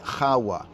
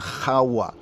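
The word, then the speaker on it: חוה: The hard H, the chet at the beginning, and the hey, the soft, the H sound at the end, HAWWAH.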